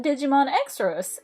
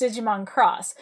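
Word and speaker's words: Digimon Xros: c it is not digimon x-rays it is digimon cross so you've got x being a c in cross you've got um x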